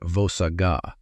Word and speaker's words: vossagga: It is vossagga — pronounced voh-SAH-ga.